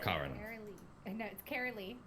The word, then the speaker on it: Cara Lee: what they call you cara cara cara lee like like Sarah Lee but Cara Lee okay I probably should